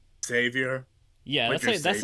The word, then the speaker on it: Xavier: are spelled that way it's usually pronounced just as if it was a z xavior yeah that's that's like